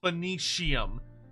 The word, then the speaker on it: Phoenicium: So the Phoenicium, so it's spelled like Phoenix, but instead of going Phoenix, you go Phoenicium. So you spell it the same way, but instead of Nix, it's Sium.